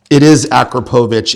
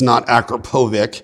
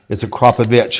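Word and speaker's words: Akrapovič: And just a little fun fact, it is Akrapovic, it's not Akrapovic. But yeah, anyways, a lot of people pronounce it Akrapovic, it's Akrapovic, and it's a gentleman's last name.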